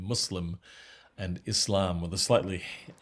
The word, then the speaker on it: Muslim: submitter someone who submits and that's the proper pronunciation muslim and islam with a slightly uh hissing ass